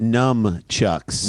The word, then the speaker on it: nunchucks: And he pronounces it nunchucks.